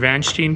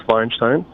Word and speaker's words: Feinstein: will go to Mr vanin please am I pronouncing that correctly yeah you did pretty well it's Feinstein I wasn't right at all I got all the vowels wrong all right Mr binstein